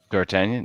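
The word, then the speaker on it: D'Artagnan: was pronouncing it incorrectly dartanian no you're good but no and that that is the the g the goddamn g is silent yeah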